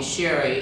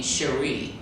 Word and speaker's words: Sheri: days of turn father called me sherry and my mother called me cherie so i kind of grew up not knowing which name was uh which pronunciation was the one to go with but actually i must have made a choice because most people call me sherry well i stumbled upon